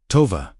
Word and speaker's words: Tova: Pronounce Tova slowly as Tova.